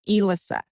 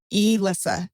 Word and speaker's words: Elisa: Uh, is pronounced Elissa. E Elisa. Elissa.